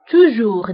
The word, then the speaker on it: toujours: دائما toujours دائما هي toujours ضدها أبدا أو jamais. donc toujours ضدها jamais. toujours دائما jamais أبدا. وانتبهوا بالنسبة لتوجور و jamais فكنكتبوهم بأس آخر الكلمة ولكنها لا تنطق.